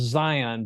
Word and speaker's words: Zeihan: And it's the new Peter Zion book. And it is called, I'm looking it up right now. So it's Peter, and his last name is it's pronounced Zion, but it's Zeihan.